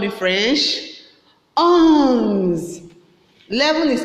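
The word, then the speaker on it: onze: Please, sometimes I notice that you pronounce a on with this ons the same. No, this one is ons.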